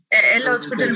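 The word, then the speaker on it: L'Hôpital: अच्छा, ये जो है एल हॉस्पिटल रूल जो है, इसको कहीं कहीं ये डेल भी लिखा हुआ होता है, DL करके। इसको हॉस्पिटल पढ़ दिया जाता है, लेकिन इसका S साइलेंट होता है, लेकिन पढ़ने में वो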